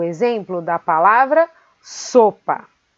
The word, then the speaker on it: sopa: Depois temos o exemplo da palavra sopa. Sopa. Sopa. A sílaba so é aquela que nós pronunciamos com mais força.